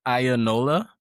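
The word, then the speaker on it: Iyanola: Um, it's Ionella? Yeah, How do you say it? that's pretty good, pretty close. So, I represent Ionola Pictures.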